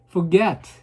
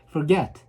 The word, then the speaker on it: forget: forget 이렇게 뒤에다 제가 발음을 세게 하죠. 네, 동사는 뒤에다. 명사 형사는 앞에다 했지만 동사는 뒤에다 하고 있어요. forget.